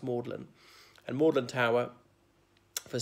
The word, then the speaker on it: Magdalen: gathered below moorland tower morning as one of the college's of oxygen Aversa tea its belt Magdalene but pronounced maudlin and more than Tower for centuries was the